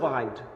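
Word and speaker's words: behind: What are the reasons বিহাইন্ড, এর পিছনে রিজনটা কি? এটাকে বিহাইন্ড, বিহাইন্ড না, উচ্চারণটা হচ্ছে বাহাইন্ড।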